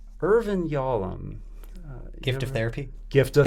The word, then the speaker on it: Yalom: Irvin Yalom. Yalom.